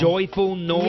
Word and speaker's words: Joyful Noise: little bit just because the woman pronounced the movie that I have coming out as Joyful Noises. And I didn't want to say, you know, oh, actually, it's Joyful Noise, because I just feel so weird about correcting people.